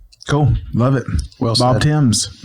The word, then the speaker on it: Thames: Bob Tims, not Fames. Tims spelled Fames pronounced Tims.